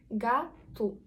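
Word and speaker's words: gato: вона при закрито буде Як тільки ми бачимо ненаголошену позицію в португальський - це у наприклад га ту га ту про наголошення ми поговоримо трішки пізніше наголошена а о стає ненаголошеною тому ми вимовляємо його як у гату також якщо це у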